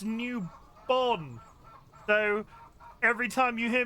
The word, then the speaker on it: Newbon: If you catch me saying newborn, I was informed by the internet today it's Newbon.